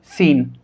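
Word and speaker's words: scene: तो इन सभी वर्ड्स के अंदर इस कंडीशन में C साइलेंट होगा। Seizures, डिसिपाइल, muscles, सीन।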